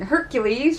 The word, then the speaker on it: Hercules: Now, first and foremost, you might be wondering why I'm pronouncing Hercules rather than Heracles. Yes, there is a difference. Heracles is technically the correct way of pronouncing it because it is Greek. Yes, Hercules is actually the Roman name for Heracles.